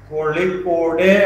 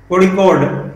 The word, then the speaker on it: Kozhikode: That is Kozhikode, or yeah, I think it's pronounced in that way. I have tried a lot to pronounce. So, Kozhikode.